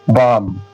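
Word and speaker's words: bomb: के बाद बी तो एम के बाद बी आ रहा है तो यहां बी साइलेंट हो जाएगा। ठीक है ना? बम बम बम मतलब बम। बम बम मतलब बम। सेकंड एग्जांपल देखिए।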